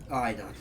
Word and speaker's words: Aina: Aina. That's it. Aina is the pronunciation.